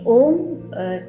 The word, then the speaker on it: ओम: will overlap raw palms ओम तीन sound के combination से बना है अ उ और म और हर एक साउंड